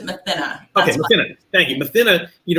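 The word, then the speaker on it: Mathinna: I pronounce it Mathina.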